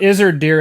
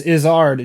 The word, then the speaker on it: Izzard: very good comedian uh it's not is her dear it's izzard james just told me